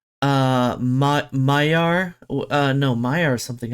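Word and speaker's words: Magyar: always been pronouncing it magar but I think it's uh I just heard it earlier pronounced earlier today I think it's Mayar is is it's a much softer G than than I would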